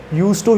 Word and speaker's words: used to: में बता देता हूँ, लिखने में D आता है, बोलते वक्त D नहीं आता. This kind of D is kind of silent. ठीक है, यूज टू ही बोलते हैं, लेकिन लिखते time we पुट D after यूज.